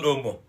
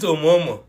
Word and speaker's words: Omo: And this auntie doesn't know how to call Omo, but she calls it Omomo. I'm like, if Omo is difficult to call, why are you adding additional syllable to something that is proven difficult already?